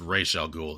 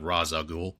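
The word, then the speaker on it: Ra's al Ghul: And there's a line spoken by well is I've always heard it uh pronounced Ral Ghoul, not Raza Ghoul.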